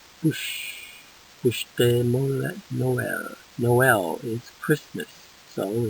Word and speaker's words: Bûche de Noël: How do you pronounce this? It's in the blue. Bûche de Noël. Bûche de Noël.